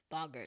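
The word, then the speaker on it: boggart: Lupin he's teaching the kids about Bots yep bogerts bogerts okay that's how it's pronounced oh yes BS bogert bogert okay no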